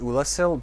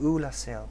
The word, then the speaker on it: Oolacile: up with that pronunciation a lot of people say that it's not pronounced oolasil but if you talk to dusk she specifically says hello i'm dusk of ula so i mean she